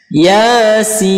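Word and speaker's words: يس: Nah, ya-nya kita baca 1 ayunan, kemudian sin-nya kita panjangkan 6 harokat atau 3 ayunan. Yasin.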